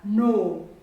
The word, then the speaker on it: know: have another wire like you know what we know but this clue is silent we read one us no no another word with a